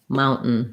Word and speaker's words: mountain: that makes that n short and then just another n so i have an au diphthong sorry ow mao mount stop the tongue don't let that t out another short end mountain mountain and same for